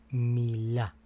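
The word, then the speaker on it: מילה: Y esta palabra se pronuncia de la siguiente manera: Milá. O sea, que significa palabra. Milá significa palabra.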